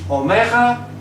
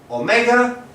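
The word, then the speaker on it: ωμέγα: Omega, a small joke, not exactly a joke, but you will see when we finish. It's pronounced O, as we see it in or, and now the bad joke.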